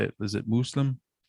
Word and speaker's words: Muslim: Muslim is typically how you say it in Arabic. Okay. So it'd be Muslim. Well, how would I say it if I was just a white guy from Louisiana? Muslim. Okay. Yeah. Say it like with a harder S, like Muslim.